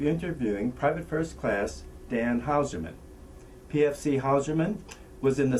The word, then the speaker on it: Hauserman: here okay now Dan would you uh please pronounce and spell your full name for us please uh Dan howman That's ha us e r m an and